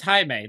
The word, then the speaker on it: Jaime: Did you ever have one of those Spanish names, Jamie, when you were taking maybe a Spanish class? Well, it is Jaime. It is. I was going to say, yeah. Yeah. It's spelled the same way, too. So it's not, yeah. That's, yeah, that was, and there were people that called me Jaime, but just because that's how it was spelled.